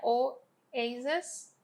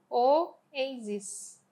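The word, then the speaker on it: oases: Então a pronúncia dessa primeira aqui no singular é oasis, com E, oasis, tá bom? Enquanto no plural dela vai ser pronunciado como oasis, com I, som de I, tá?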